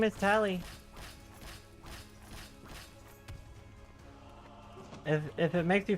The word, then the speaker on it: Tali: whenever I meet people they often call me tail I'm just like okay I sometimes I'm like you say it like tally like a tally mark it's a Hebrew name oh tor of us